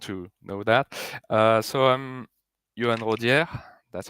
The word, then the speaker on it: Yoann Rodiere: So I'm Yoann Rodiere. That's how it's pronounced.